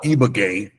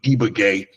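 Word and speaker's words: Ibagué: um there's a city that we stayed called eaay that's spelled i b a GU e eaay um I mean you can find three bedroomroom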